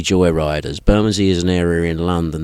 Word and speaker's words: Bermondsey: you pronounce the band name the the correct pronunciation is the buray joy Riders Burmy is an area in London that is predominantly